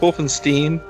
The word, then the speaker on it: Wolfenstein: Oh, it's pronounced Wolfenstein.